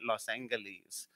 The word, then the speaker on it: Los Angeles: That's how we locals pronounce it, right? Los Angeles.